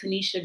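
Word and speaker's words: Tenita: book her name is she pronounces it tanisha johnson but it's spelled t-e-n-i-t-a um tanita johnson um she is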